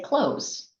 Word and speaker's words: clothes: So when I say the word clothes, I say close, like close the door.